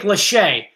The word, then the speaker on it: Lachey: it's definitely not good guess though oh it's pronounced nick lachey thank you i i appreciate that lachey that